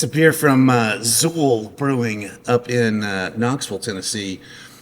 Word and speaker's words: Xul: It's XUL with a Z.